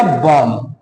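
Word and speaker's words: bomb: जब एम के बाद बी आ रहा है तो बी साइलेंट हो जाएगा, तो ये हो जाएगा बॉम्ब।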